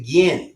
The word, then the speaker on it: Ginn: Actually, it's pronounced the Ginn.